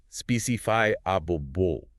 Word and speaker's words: specifiable: It should be pronounced specify abul ensuring the stress lands clearly on the third syllable.